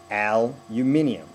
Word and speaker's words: aluminum: syllable difference you guys hit one and three aluminium we hit two aluminum so the the stress of syllable is exactly different the AL happens because you stress it you can't say the first syllable and not say Al if you stress it you can't say the first syllable and not say uh if you don't stress it so aluminum if it's non stress it's going to be uh every time so the again stress